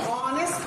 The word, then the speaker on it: honest: ऑनेस्ट पढ़ते हैं। यानी उच्चारण में अगर स्वर है तो एन लगाएंगे,